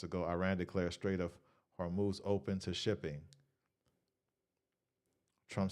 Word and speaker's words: Hormuz: Okay, so a lot of little news just came out on everything going with the Strait of Hormuz.